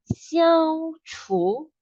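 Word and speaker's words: 消除: Elimination itself we call as 消除. 消除, it will sound like 虚 plus ao. 消 and then 是 plus 除.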